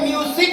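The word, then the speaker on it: music: गया है ये म्यूजिक इसमें देखिए यू और आई दोनों के बीच में एस आया ना तो इसको म्यूजिक नहीं म्यूजिक क्या पढ़ते हैं म्यूजिक म्यूजिक और म्यूजिक मींस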